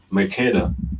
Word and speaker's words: Mercator: He's Mercator, right?